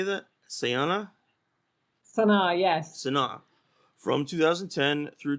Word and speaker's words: Sana'a: Sana'a, yes.